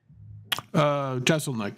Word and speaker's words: Jeselnik: Jeselnik, yeah.